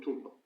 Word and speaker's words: tulpa: So giving birth to the talpa or the tulpa I prefer to call it tulpa although the correct pronunciation is talpa I call it tulpa because in in original Tibetan it's closer to original Tibeta.